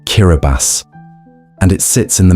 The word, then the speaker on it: Kiribati: It's pronounced Kiraabas and it sits in the middle of the Pacific Ocean, scattered across an impossible distance of open water.